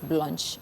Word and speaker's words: blanche: Ça se prononce blanche.